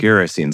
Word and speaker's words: Gerasenes: Well, Gerasenes, like kerosene.